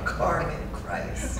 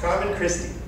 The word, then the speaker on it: Carmen Christi: Carmen Christ. Carmen Christi. So it's butchered Latin.